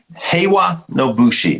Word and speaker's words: Heiwa no Bushi: So Heiwa no Bushi.